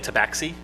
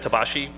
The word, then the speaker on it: Tabaxi: of x and um i wish people would stop saying tabaxi instead of instead of tabashi because how you would say it um because they're supposed to be from the same place that the mastecons are from oh it and i've